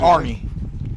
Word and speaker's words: Arney: You say Aney? Is that how you pronounce it? Arney. Mick Arney. Arney. Is that an R? Yeah, A-R-N-E-Y.